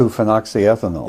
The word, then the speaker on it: 2-phenoxyethanol: Are you aware of how many micrograms of 2-phenoxyethanol? How do you pronounce it? 2-phenoxyethanol.